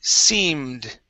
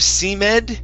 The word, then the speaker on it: seemed: let's see here okay the word seemed okay yeah instead of c med okay the e that e after the m that is silent seemed try that it's same